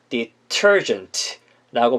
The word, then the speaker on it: detergent: 그 다음에 세제는 detergent 털에다 강세를 찍어주면서 detergent라고 발음해 주시면 되겠습니다.